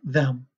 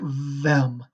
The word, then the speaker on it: them: it yourself i like them and you're saying it correctly your tongue is between your teeth but if you're saying i like vem you might be saying it with a v so check in a